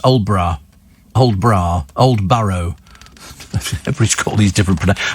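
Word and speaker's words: Aldeburgh: Oh, Adelborough is pronounced Old Borough.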